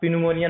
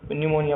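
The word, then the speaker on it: pneumonia: अब पिन्यूमोनिया नहीं पढ़ोगे, उसको न्यूमोनिया पढ़ोगे, पी साइलेंट होता है।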